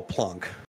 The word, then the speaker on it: Planck: And yeah, I'm also happy that his name's Planck and not Blank, because it's pronounced the way it's fucking spelled.